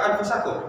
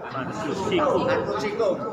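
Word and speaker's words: أنفسكم: Wafi ini mengapa anfusikum atau anfusakum? Anfusikum. Kenapa? Ada fi. Wah, oke. Iya, enggak perlu dibahas, orang udah pasti kok buang-buang tinta. Kan ada fi.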